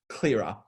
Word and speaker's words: Clearer: Moving on, we now see that the perfect treatment, particularly for acne, is the MG Clearer. The CLR is pronounced Clearer, and this will take over your classic DP dermaceuticals of using the Clearer lotion plus the Hyalactive combined together.